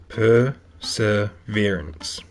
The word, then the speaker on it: perseverance: Accent's on the third syllable. So, perseverance.